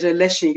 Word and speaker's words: Elesin: Okay, I'm on, will I say all social media platform is Elesin. You can see it's pronounced with H. The Elesin is pronounced with H, but it doesn't have H.